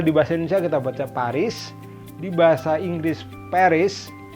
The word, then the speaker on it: Paris: di bahasa Inggris Paris Nah kalau di bahasa Perancis sendiri huruf s di ujung itu seringkali tidak bunyi jadi ini kasihan banget dewasa jadi pari ada esnya tapi esnya nggak bunyi Aduh kasihan banget ya